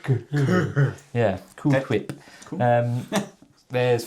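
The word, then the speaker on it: Ghur: Yeah, which is spelled not like Tony the Tiger Gur, but I think like G-H-U-R. Like Gur.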